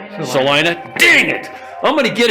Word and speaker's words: Salina: area here around celina i said it right celina dang it i'm gonna get it here before